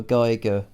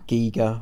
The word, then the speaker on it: Giger: sort of way that H.R. Geiger would, or Giger, I think people pronounce it either way. Geiger, I used to say. Yeah. I think because of Geiger counter, I guess.